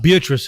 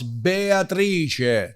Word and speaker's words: Beatrice: Beatrice is different when you say Italian. Oh, so it's not Beatrice. It's No, it's Beatrice.